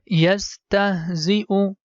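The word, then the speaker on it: يستهزئ: Whenever you see letter Hamza is written top of Ya, letter Ya becomes silent. And here we have to pronounce letter Hamza, U sound. Yastahzi'u bihim وَيَمُدُّهُمْ فِي طُغْيَانِهِمْ يَعْمَهُونَ أُولَئِكَ الَّذِينَ اشْتَرَوُا الضَّلَالَةَ.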